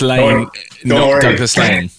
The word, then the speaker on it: Laing: year so i have already mispronounced the company name it's it's douglas lane she's gonna overdub that